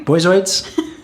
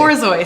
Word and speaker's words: Borzoi: Boyzoids? Are they robots? How do you say it? Borzoi, sorry.